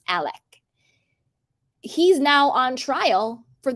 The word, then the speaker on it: Alex: His name's, it's spelled Alex, but it's pronounced Alec.